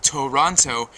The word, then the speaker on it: Toronto: otherwise known as Toronto, which is actually a three-syllabled word, Toronto, properly said.